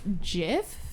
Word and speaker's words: GIF: okay do you say gif or Jif yeah okay I kind of like interchange and I really don't care that much so I'm just looking whatever gift Jeff whatever apparently it's Jeff even though that I